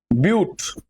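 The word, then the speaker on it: but: এবার সিফর হচ্ছে তোমার বিউট আর ইংলিশে এটা বিউটি লেখা হচ্ছে বাট না কিন্তু চারটে কার্বন মানে আমার বিউট হবে। এখানে ইংলিশে উচ্চারণটা বাট হবে না। কিন্তু বিউটি উচ্চারণ করতে হবে।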